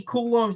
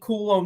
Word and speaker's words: Coulombe: Danny Coulombe's name is Danny Coulombe, not Coulombe.